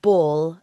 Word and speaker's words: ball: his note was to make the L of ball a dark L, because that's the way Americans say ball. It's a lot at the end.